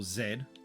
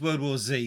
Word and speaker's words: World War Z: okay um so yeah World War Z or Zed we we pronounce that as World War Z because that's what it originally was pronounced as um then you got